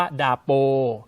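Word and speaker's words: dapur: ก็ คือ คำ ว่า ดาป ดาป เอ่า ดาป เนี่ย ถ้า คุณ ผู้ ชม เห็น ใน อักษร มัน จะ มี ตัว อา ซึ่ง อา ไม่ ออก เสียง ตัว นี้ ก็ เลย เป็น ดาป ที นี้ ตัว U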